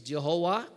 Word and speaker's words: Jehovah: Pronunciation is Jehovah. Meron namang Jahwe. Meron namang Yahawa. But it was a German theologian who says it should be pronounced as Jehovah.